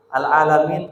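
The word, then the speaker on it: العالمين: Al-alamin diganti dengan ainnya diganti dengan ghain. Berubah lagi maknanya. Atau ainnya dimudahkan membacanya. Karena makharijnya ain agak susah, mungkin dirubah jadi hamzah, maka maknanya juga berubah.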